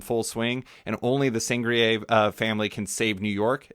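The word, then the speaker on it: Sangerye: How do you pronounce it? It's Sangria. Sangria.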